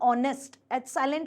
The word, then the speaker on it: honest: ऑनेस्ट, H silent होता है, ओ को पढ़ते हो, ओ क्या कहलाता है आपका, वोवेल कहलाता है ना। साउंड आपका जो आ रहा है वो ओ साउंड आ रहा है, वो वोवेल है, तो उसके पहले हम एन लगाते हैं।